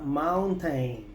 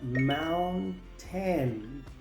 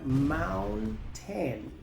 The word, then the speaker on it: mountain: n, luego la t, la a se pronuncia e, la i es muda, luego se pronuncia la n, así que se pronuncia mountain, palabra número cinco.